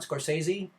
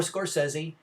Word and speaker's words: Scorsese: Next up, back to Martin Scorsese, or Scorsese. Apparently it's pronounced both ways. I have heard voiceover documentary people whom you would think would be told the correct way to pronounce his name, pronounce it both ways.